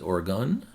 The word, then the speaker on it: Oregon: provided by a viewer I was saying or Aon but it's Oregon Troutdale Oregon and these